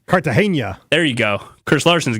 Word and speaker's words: Cartagena: Cartagena. Uh-huh. It's like the Colombian city. Cartagena.